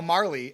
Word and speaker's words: Marle: you're from the south where they pronounce Marl Marley and if that's fine and you go by Marley that's also fine.